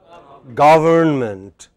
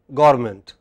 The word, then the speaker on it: government: pronounce this word correctly how should it be pronounced government but many people take this away they say garment garment man moans in garment Jellicle government is